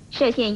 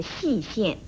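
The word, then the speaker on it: 歙县: 要提出来的是，射县一词大家都念成了细县，这是不妥当的。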